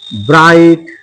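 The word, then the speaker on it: bright: তাহলে আমরা এরকম ওয়ার্ড দেখে নিই যেমন আমরা লিখলাম যে রাইট আর আই জি এইচটি রাইট ব্রাইট বি আর আই জি এসটি ব্রাইট লাইট এল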